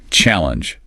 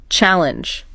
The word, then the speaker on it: challenge: Challenge. This one catches people sometimes. Pause. Did you get it? It's the first syllable. Challenge. Not challenge.